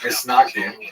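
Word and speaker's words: מתנגדים: A series of bans and counter-bans between the so-called opponents, or in Hebrew, mitznagdim, Ashkenazi pronunciation, misnagdim, or to our friends, the snags.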